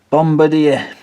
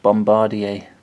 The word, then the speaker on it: Bombardier: the locals kept trying to convince me that it was pronounced Bombardier. I don't think it is. It could be though, but I'm pretty sure I've seen Bombardier adverts on Dave, and that they pronounce it Bombardier.